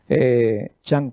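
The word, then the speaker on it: Chang'e: chang 4 y no change como dicen los algunos americanos o ingleses no es change oa no es cambio chang es el nombre de de lo chino para la luna eh la luna en chino se dice así no no es change no no tiene nada que ver con el término cambio americano aquí tenemos alguna imagen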